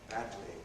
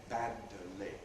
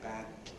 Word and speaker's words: badly: the side and fully badly badly badly. Notice again we don't make two separate movements of the tongue tip. We don't we don't say band. We say badly, lateral release, badly badly.